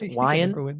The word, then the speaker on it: Wyan: Wyan rhymes with lion.